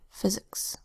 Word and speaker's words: physics: First syllable, so the same as physical, it's P-H-Y-S, phys. Second syllable, ix, spelled I-C-S. F-I-Z, that's the second sound of S. I-K-S, the first sound of S, physics.